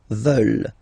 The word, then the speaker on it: veulent: And the last one, here, EU, and then E-N-T, classic ending, but then you don't pronounce it, so you get veulent, veulent.